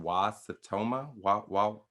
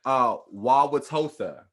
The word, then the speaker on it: Wauwatosa: earlier this year by a police officer in Wasatoma. You know how to pronounce that? No. I was no disrespect. No it. disrespect. Wauwatosa.